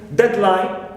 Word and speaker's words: deadline: closed compounds noun compound we can mention deadline we stress that the first part clear and also airplane